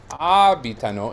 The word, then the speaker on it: abitano: But abitano is 4 syllables and the stress is on the first to the fourth, so it's on the third to last syllable.